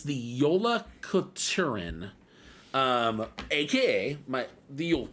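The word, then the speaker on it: Jólakötturinn: because it's uh hard for me it's the Yola katuren um AKA my the old cat and part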